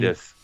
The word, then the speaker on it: Kiedis: Kiedis.